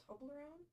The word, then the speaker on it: Toblerone: Toblerone.